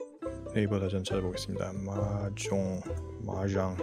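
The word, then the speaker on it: mahjong: 마종 마장 영어로는 마장이라고 발음을 보통 하고요.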